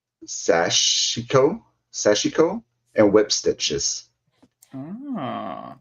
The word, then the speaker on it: sashiko: I am so sorry if I say this wrong, but like sashiko, and whip stitches. Ah. So it's spelled sash and then IKO. So I don't know.